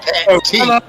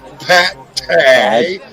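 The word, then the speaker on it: Pat Tee: My name is Pat T. Hey, all you got to do is use proper pronunciation. P-A-T is Pat. T-E-E is the T. Pat T. Not Pat Tay.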